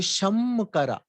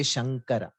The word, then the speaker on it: Shankara: bindu and then ka why don't we say sham kara why should we say shankara the the rule is whenever you have a an anuswa the um is not pronounced as am everywhere that there is um takes a different form depending on what is the next letter after um in shankara after sham there is a ka look at this consonant list